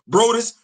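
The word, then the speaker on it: Broaddus: Yeah, Brous. That's Maurice spelled like how we would spell Maurice.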